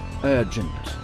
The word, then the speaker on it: urgent: Ça s'écrit de la même façon qu'en français, mais UR en anglais se prononce un. Ce mot se prononce urgent.